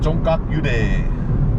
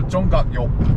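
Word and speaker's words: 종각역: Alright, so yeah, from there, I would head to, I still remember how to say it, Jonggak Station, Jonggak-yude, no, Jonggak-yok.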